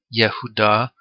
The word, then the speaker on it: Judah: is a girl daughter the pronunciation is like yahudah and that's of judah